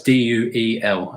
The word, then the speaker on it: Duel: first feature-length movie was Duel. That's D-U-E-L. As I can't pronounce it. It sounds like I'm saying a jewel, but it's Duel with a D, not a J.